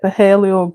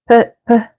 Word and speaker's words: Phthalo: I'm thinking like light Paleo green or I said Paleo, but is it? How do you pronounce that really? Phthalo.